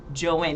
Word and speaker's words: Joan: Her name was Joan, but it was pronounced Joanne.